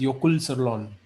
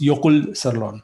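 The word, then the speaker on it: Jökulsárlón: J is silent. Jokul Sirlon if you spell it with without that accent, but it's Yokul Sirlon or Okay.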